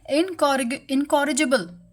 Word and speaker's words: incorrigible: तो अभी इसका जो सिनोनिम है उसको हम बोलते हैं इनकॉरिगेबल। सो जो सी है इसको हम के से प्रोनाउंस करेंगे। ओके, के से इसको बोलना है इनकॉरिजिबल। ओके, तो इसका मतलब होता है असुधार्य, जिसको कभी भी बदला नहीं जा सकता।